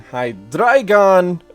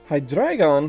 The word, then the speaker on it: Hydreigon: its three heads, so I'm assuming it's drei as in the German pronunciation of drei, three.